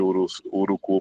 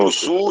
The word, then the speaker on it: Uruçu: Que outra escola teria nessa região de Urucu, por exemplo, ou de Calculo? É o Uruçu. A pronúncia certa é urçu e Coculo. Pronto. Uruçul e Coculo.